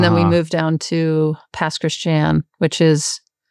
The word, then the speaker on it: Pass Christian: Um I was born in Jackson and then we moved down to pass Christian which is it's two words pass and Christian which is the Cajun pronunciation for Christian.